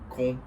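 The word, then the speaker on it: Caen: E existe uma frase que uma garota francesa uma vez me falou lá em Con com se escreve Cain, é uma cidade do norte da França que eu nunca vou esquecer.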